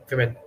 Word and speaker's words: women: We don't say who, we say we, women. Okay.